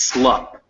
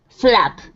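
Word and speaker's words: slupp: and that first word is slup. Slup is how you say it. Slap.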